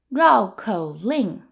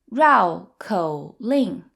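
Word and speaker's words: 绕口令: twisters are a fun way to practice your pronunciation and learn a few new words the word for tongue twister in Chinese is Rao KO Ling Rao KO Ling so Rao means to circle around Rao is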